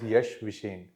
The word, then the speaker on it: Yash Vishen: Sir, I pronounce it as YASH VISHEN.